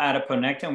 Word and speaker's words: adiponectin: And you can Google adiponectin, which is spelled just like it sounds, A-D-I-P-O-N-E-C-T-I-N.